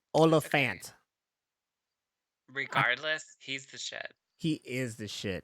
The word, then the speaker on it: Olyphant: super scary plus timothy oliphant oh sorry yes plus timothy olafant i've been i just learned that i've been saying his name wrong the whole time it's olafant regardless he's the [